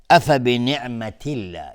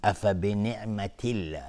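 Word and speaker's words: أفبنعمة الله: بعضیا حکم رو جابجا میکنن، مثلا حالا اینجا مثلا بگیم افبنعمت الله، اینجا به جایی که مثلا ترقیق بشه و نازک لفظ جلاله تلفظ بشه، بعضیا اون رو غلیظ تلفظ میکنن، افبنعمت الله اینجوری میگن، اینجوری تلفظ میکنن افبنعمت الله.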